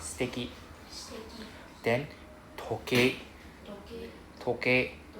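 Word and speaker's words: 時計: Then toke. Toke. Right? Then toke and E don't read together. Just now you said toki. Right? So it's just toke.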